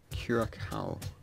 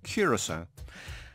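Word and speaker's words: Curaçao: Kiracao. It shows how little we knew about this that we didn't know. It's pronounced Curacao, and for so many of the websites I've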